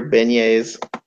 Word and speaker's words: beignets: yes some Big Easy's let's say it together beignets I know how to say it that's it